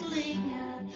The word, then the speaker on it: linger: Now, pronunciation-wise, there is one thing that a lot of people don't realize, that this is not, this here is not a GER. In either of these, Linger. Linger. Linger.